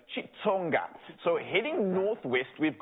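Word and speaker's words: Xitsonga: in our country because sometimes you pronounce it with a chi or sometimes it's a click but this one apparently it's a chitsonga so heading north west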